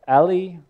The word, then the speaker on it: A11Y: By the way, A11Y, it's pronounced Ali, and it's a numeronym